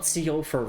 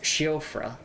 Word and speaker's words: Siofra: It's not Siofra River, it's Shiofra, I believe, is how you pronounce it.